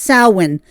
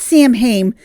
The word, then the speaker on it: Samhain: Halloween had its origins with the pagan holiday that is pronounced Samhain, not Samhain like an English speaker would pronounce it.